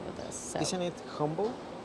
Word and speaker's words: Humble: So Isn't it humble? it's Humble. I think it's Humble. I think the H is silent.